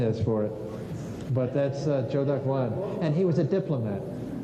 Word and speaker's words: Zhou Daguan: Zhou Daguan. I don't know what the pinyin is for it, but that's Zhou Daguan.